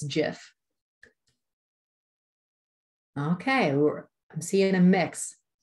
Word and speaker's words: GIF: I'm a GIF gal there because it's a graphic. The G stands for graphic, so I go with G.